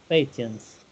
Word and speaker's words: patent: skills yes patent books patents it's like patents like a patient that's right yes patent